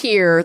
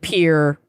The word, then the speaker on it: Pierre: It's Pierre. They pronounce it Pierre. It's very frustrating.